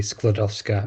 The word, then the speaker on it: Skłodowska: Thank you for the introduction and yeah, I still can't say Marie Skłodowska I think is the correct pronunciation.